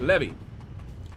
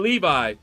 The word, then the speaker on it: Levy: Because most people would say Levi, but Levy. But to echo your point, this is the world we live in. Yeah, like I said, oh, Levy. Not Levi, but Levy.